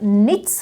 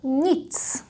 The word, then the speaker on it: nic: Or like here, when we have combination with n, it's not nic, but nic. And here it's a long one, paní, paní.